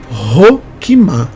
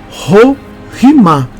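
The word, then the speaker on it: Chokhmah: no hebraico se fala rochimar o C e H tem o som de R Então esqueça hoquimá não se fala o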